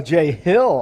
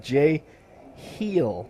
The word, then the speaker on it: Jay Hill: I mean, it's a J and Hill. Oh, Jay Hill. I thought what do you mean? I thought you were saying Jay Heel, like rhymes with Jay Real.